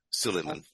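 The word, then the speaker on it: Suleyman: Suleiman. Mustafa Suleiman, thank Suleiman.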